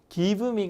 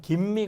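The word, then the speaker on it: give me: 주 발음이 나서 크 즉 기브미 가 아니라 거의 김미 가 되죠 예 그 짬이 몬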